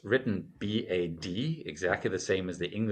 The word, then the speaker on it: Bad: The D automatically becomes a T because it's at the end of the syllable / the end of the word.